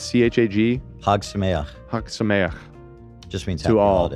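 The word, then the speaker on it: Chag Sameach: And then I don't know anything how do you pronounce the thing that people say to celebrate a holiday? It's C-H-A-G. Hag Sameach.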